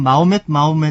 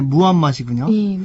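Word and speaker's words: 무함마드: 하디스 지금 그 사도 우리 보통 그 어렸을 때는 마호멧 이렇게 배웠기 때문에 버릇이 되었는데 예, 원래 발음이 무함맛이군요.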